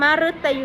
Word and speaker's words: มฤตยู: เช่น คำ ที่ 1 มฤตยู อัน นี้ อ่าน ออก เสียง เป็น เสียง รึ นะ คะ ไม่ ได้